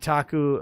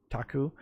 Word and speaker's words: Taku: like taku and and taku like taco taku and uh phasma phobia